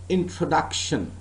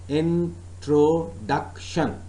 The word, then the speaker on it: introduction: in front of you introduction I am NOT announcing this word as in drawer duction I am NOT announcing this work as intro duction no I am pronouncing this word as introduction but that means that